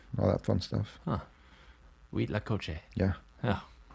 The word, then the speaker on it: huitlacoche: corns but what was the Spanish word for huitlacoche huitlacoche sores that sounds a lot spelled with a you know with an H but